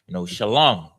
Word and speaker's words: Shalom: Shalom. S-H-A. Shah. The Shah in the alphabet. The Shah. S-H-A. And Lam. The L-A and M-A are connected, which makes Lam. So it's Shalom.